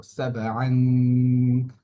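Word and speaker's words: سبعا: সাবআন, গুণাটা দেখা যাচ্ছে না, একদম লুকায়িত, এই কারণে এটাকে ইকফা বলা হয়।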